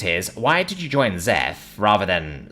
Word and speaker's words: XEF: Isabel asked, pronouncing the acronym as Zeph.